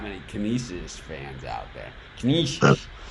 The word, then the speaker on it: Canisius: Last time I said it, because someone told me that it's pronounced Canisius. And it's like, so I